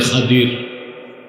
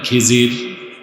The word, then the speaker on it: খাদির: বান্দা তার নাম হযরতে খাদির যারে আপনারা বলেন খিজির উচ্চারণটা হচ্ছে খদির উচ্চারণ কি আপনারা ভুল বলেন খিজির কথা বুঝতেছেন আল্লাহ বললেন